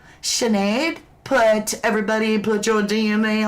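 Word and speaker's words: Sinéad: Emerald Jane says it's pronounced Sinead.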